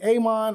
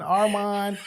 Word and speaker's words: Aman: me and call me Aman Arman you know what I'm saying Ammon you know it's Aman it's a short a it literally it's SP on the on the thing and then people will still put like amen hey look I had